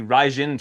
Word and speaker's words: Raijin: I've got to get you on the Raijin train instead of Ryzen. It's Raijin because Yeah. they sent Is out that an what it email is? saying that's how it's pronounced.